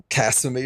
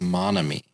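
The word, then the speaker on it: Nagomi: Uh, wasn't it like Casemi or something? Uh, something like that. Close. Cuz I cuz it it it rhymes. It's Monomy.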